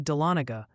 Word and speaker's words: Dahlonega: Also, Ryan, the Georgian delegation and some New Yorkers have politely requested a pronunciation update. It's Tioga for Tioga County, New York, and roughly Dahlonega for Dahlonega, Georgia.